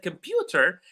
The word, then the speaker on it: computer: As I said, computer, the word pew is receiving all the stress.